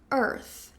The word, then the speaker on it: earth: Quando a gente coloca a língua entre os dentes, né, e fica ã ela meio que sai para fora, fica quase como uma cobrinha. Earth, eh, earth. Ok. Ã, Naira, não consigo. É muito difícil pronunciar esse DH. Fica no F mesmo. Earth.